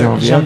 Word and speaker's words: Genevieve: Genevieve.